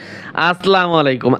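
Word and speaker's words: السلام عليكم: তাহলে আমরা যখন মোবাইলে কথা বলবো, অনেকে বলে আসসালামু আলাইকুম, শুদ্ধ মতো দেয় ঢাকার মানুষ, আসসালামু আলাইকুম, আসলা নয়, আসসালা।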